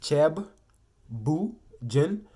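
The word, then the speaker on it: ceebu jën: So I will introduce the most famous dish over there, which is chebujin is pronounced cheb, bu jin.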